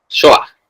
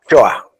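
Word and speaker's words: Shoá: Shoa. Shoa. Con una a abierta casi casi con que tuvieras una pequeña J atrás.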